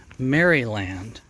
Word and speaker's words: Maryland: story of how Maryland which is properly pronounced marry land came to be settled